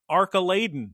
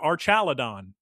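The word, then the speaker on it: Archaludon: So people are upset at the way they pronounced the Pokemon's name Arcaladon or Archaladon or Guess what, Geese Peep? You get to choose how to pronounce it because they pronounce it differently at official Pokemon events than they do in the anime. So just have fun. Pronounce it however you want.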